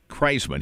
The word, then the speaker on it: Kraisman: Kraisman.